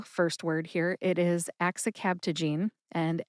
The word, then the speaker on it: axicabtagene: it is axicabtagene, and axicabtagene has 5 syllables. That's axe, like the tool that you use for splitting wood, axe, I, which is a short I sound, like the I in the word president, I, cab, like a taxi cab, ta, like Tabasco, and gene, as in gene therapy. Put all 5 syllables together and you get axicabtagene.